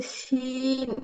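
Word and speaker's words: شين: আচ্ছা, ওই শিন এটা জিহ্বার কোন জায়গা থেকে উচ্চারিত হয় জিহ্বার সেটা আসলে মধ্যখান, বলা হয়নি মনে জিহ্বার হয়। মধ্যখান তার বরাবর উপরে তালুর সাথে লাগিয়ে শা শা শব্দ করে উচ্চারণ হবে।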